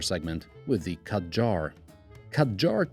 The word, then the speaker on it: Kadjar: with the cut jar khadjar takes its name from two joining syllables Cad and jar the first is supposed to sound like a quad bike and the other like agile or jair which is French for gush out so it's an agile